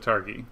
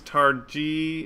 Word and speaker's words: Targi: loud and clear so someone's saying it's tar g and someone's saying targhee um it's ghee as in gif that's what one person says according to the designer it is a hard g sound that's from uh carrie